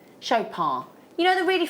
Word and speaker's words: Chopard: Now do you pronounce the D on Shop? Shopar you know the really f famous really high-end jewelers.